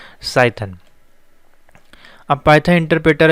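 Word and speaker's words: Cython: और पाइथन interpreter को हम लोग साइथन भी कहते हैं। देखिए यहाँ पे पाइथन है, सी यहाँ पे जो है साइलेंट है, तो साइथन भी कहते हैं, ठीक है।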